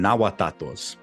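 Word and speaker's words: Nahuatato: Um and then for Nawat speakers specifically and Nawat translators, they call them nawatos. And but they spell it n a g u a t a t o.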